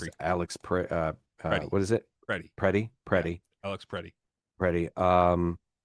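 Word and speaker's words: Pretti: Alex Preddy. Preddy. I had heard it pronounced Peretti, but I don't think that's correct. I think it would have an extra E.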